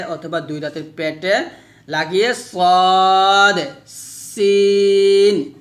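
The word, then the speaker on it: ص: হচ্ছে পাতলা হরফ তাহলে সদ মোটা করে উচ্চারণ করতে হবে শীষ দিয়ে আর সিনটা পাতলা করে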